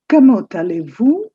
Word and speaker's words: Comment allez-vous: The T of comment and A of allez, they link up.